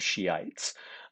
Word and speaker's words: Shiites: sometimes called shia or sometimes called Shiites and that's the pronunciation of that word so don't be silly